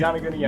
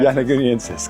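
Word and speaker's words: yonaguniensis: That's how I pronounce it, Yanaguniensis. Yanaguniensis, got it.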